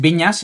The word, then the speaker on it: Vinyes: Mi apellido en catalán es Viñas, igual que en castellano con ñ a s. Lo que pasa es que Viñas en catalán se escribe con NYS, ¿no?